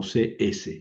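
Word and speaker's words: ξ: No, no hay que poner la X porque ya les digo que en español la X tiene muchos valores diferentes. Entonces, hay que hay que pronunciarla como CS, la XI.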